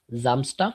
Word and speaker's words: Samstag: That's why it is Zontag, Zamstag. After S we have vowel. So we have the sound Zamstag or Zontag.